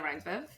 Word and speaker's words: Reinsve: Uh Renate Reinsve How do you say that one?